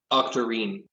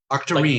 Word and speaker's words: Octarine: Octarine. Octarine. Like tangerine. Like tangerine, but Octarine.